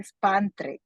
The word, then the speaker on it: Spandra: que sumamente eh este emocionada por tener Eduardo spandre Así que se pronuncia tu nombre Así es tal cual okay